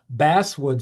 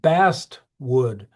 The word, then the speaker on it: basswood: It's called basswood sometimes, and that word basswood is actually kind of a mispronunciation of bast wood.